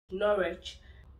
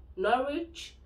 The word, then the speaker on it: Norwich: have the likes of norwich when you have a w at the beginning of the last level where you're pronouncing https you don't actually pronounce it w it's silent the w silence so norwich dw silent in cervic